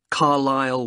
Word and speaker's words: Carlisle: and your address 45 carlisle way could you spell carlisle for me sorry it's c a r l i s l e you don't pronounce the s carlisle way and that's